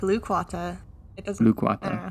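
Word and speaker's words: Lukwata: I pronounced this right loquata that sound good I think it's more like lukewata okay luquata which is or was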